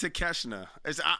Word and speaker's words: Takeshita: It's pronounced Takeshita or Takeshita. Oh, it's Takeshita.